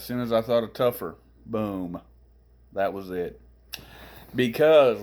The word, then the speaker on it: Topher: my name it is t-o-p-h-e-r i think it'll show up there once we do the video most people pronounce it topher but we pronounce it tougher the reason being when